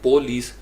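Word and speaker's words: police: लेकिन American accent में जो ओ है वो पेश नहीं है, जो उर्दू में हम बोलते हैं। तो उसके लिए हमें प का लफ्ज़ बोलना पड़ेगा, PUH, अ थोड़ा सा जर का था, पलीस, पलीस, पलीस, PUHLEES।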